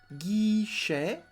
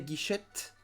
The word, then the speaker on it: guichet: Le guichet, guichet. So don't say guichette. The T is not pronounced.